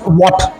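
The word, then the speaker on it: watt: बोलते हुए देखा, बट इट्स नॉट वैट, इट्स a name of a scientist, you कैन not change it एट your own will. So basically it's वॉट।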